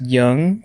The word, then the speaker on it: Duong: It's pronounced Young, but it's spelled like Duong.